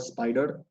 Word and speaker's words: Spyder: python script so i'm using an environment called spider it's spelled spyder so it's a very handy tool